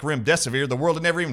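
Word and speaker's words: remdesivir: pathologist said Dr Artis just tell your audiences to call it run death is near so run death is near Rim desevere that's how you remember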